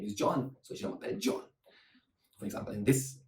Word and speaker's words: je m'appelle: So how you ask the name is comment tu t'appelles, and the answer is je m'appelle.